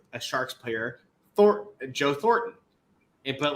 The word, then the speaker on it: Thornton: like because for me i always forget that it's thornton i pronounce it billy bob horton like t-h-o-r-t-n i don't pronounce it with an n in there um but so for